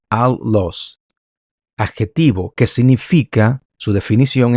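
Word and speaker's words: ἄλλος: Como ustedes ven aquí, Strong G243, en griego se escribe de esta forma, la transliteración es allos y se pronuncia allos.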